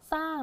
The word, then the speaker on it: สร้าง: คะ สร้าง นะ คะ พยัญชนะ ต้น ของ เขา ก็ คือ ส เสือ กับ ร นะ คะ แต่ ว่า เวลา ที่ เรา อ่าน ออก เสียง ก็ จะ เป็น เน้น นี่ ตัว นี้ ส เสือ อย่าง เดียว ไม่ ออก เสียง รอ เรือ นะ คะ เอา ส